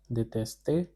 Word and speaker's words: détester: The pronunciation is détester and the meaning of détester is to hate.